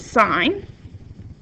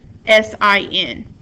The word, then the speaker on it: sine: trig ratios one is sign which is usually we just write it as s i n that is not pronounced sin we are not committing sins in class that is pronounced s